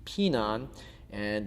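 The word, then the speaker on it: Pinan: They're still done in Tangudo and we call them pyongan which is very similar to the Okinawan way of pronouncing it which would be pin and in Japan they usually refer to them as hian.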